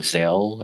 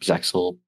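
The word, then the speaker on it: Zexal: Zell or Zexel, depending on how you want to pronounce it.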